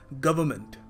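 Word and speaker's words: government: देखो यहाँ पर इस वर्ड में ना आर और जो एन है ना, उसको आपको प्रोनाउंस करना नहीं है वैसे, मगर लोग कुछ छोड़ते नहीं है, लोग कहते हैं वर्ड है तो बोलो उसको, है क्यों फिर? देखो सही वैसे बिल्कुल एप्रोप्रिएट तरीका होगा इसको प्रोनाउंस करने का, गवर्नमेंट, गवर्नमेंट।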